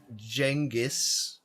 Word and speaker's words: Genghis: Or as some pronounce it, Jenis.